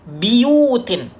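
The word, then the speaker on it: بِيُوتٍ: Buyutin, ya, bacanya dengan kasroh huruf ba-nya. Biyutin, ya, biyutin, sama seperti Syu'bah juga.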